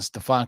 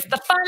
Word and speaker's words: Stefano: Number 1, Stefan Caselli. What are you gonna Italians to write do cover? Stefano, you gotta say it right. Stefano Stefano Caselli.